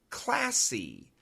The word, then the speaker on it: classy: Classy.